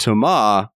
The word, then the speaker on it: Thomas: them so I'm just saying this also Thomas's pronounced to Ma the S is death no same writer same